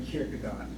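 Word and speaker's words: Kierkegaard: In Danish, it's pronounced Saurin Kirkagard.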